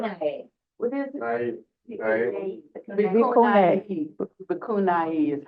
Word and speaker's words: bhikkhuni: Bikuni is how they pronounce it.